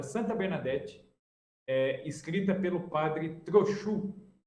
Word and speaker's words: Trochu: Bernadette, escrita pelo padre Trochu. Se escreve do jeito que se fala, Trochu, T-R-O-C-H-U, Trochu.